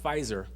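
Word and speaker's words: Pfizer: it at the time PF i z r well that's pronounced fizer and uh so I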